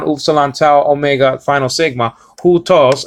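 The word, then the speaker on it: houtos: Hutos, well, actually, it's the rough reading over the diphthong there, the upsilon, giving you an indication that is a sounding sound before the first syllable, before the diphthong here. So it's not u, it's hu, hutos.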